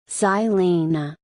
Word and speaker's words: Žilina: Žilina, Slovak pronunciation, German, Zilin, or Zlan, Hungarian, Solna, Polish,